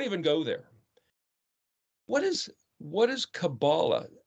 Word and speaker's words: Kabbalah: It's always spelled with a K, but it's actually the letter Kuf. If you look in the dictionary, Kuf, Bet, Lamed, Kabbalah. That almost sounds like where we get the word C-A-B-A-L, like a conspiracy theory sort of stuff.